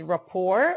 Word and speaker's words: rapport: kid the pronunciation is rapport or we do not pronounce the T rapport is the relationship